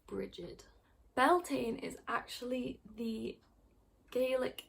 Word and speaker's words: Brighid: It's pronounced Brighid, so it's pronounced like Bridget, the name Bridget, if you've ever known someone called Bridget, except there's a D at the end instead of a T.